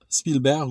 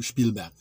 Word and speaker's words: Spielberg: connu à l'époque Steven Spielberg ou Spielberg ça dépend si vous voulez prononcez américain ou à l'allemande donc Spielberg c'était distingué